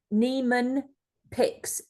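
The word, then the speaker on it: Niemann-Pick: Neeman piics type c so the Nan is spelled n i e m a n n i yeah n i m uh n i e m n n pixs apostrophe C so p i c k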